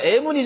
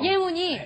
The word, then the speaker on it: 예문: 그런데 저 애문이 좀 잘못된 게요. 예문이. 애문이 아니고 예. 예문입니다. 예문.